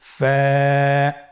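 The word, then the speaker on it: ف: হরফ আমরা দেখতে পাচ্ছি আপনারা আমার সাথে বলুন ফা কফ কাফ লাম মিম নুন ওয়া হামজা ইয়া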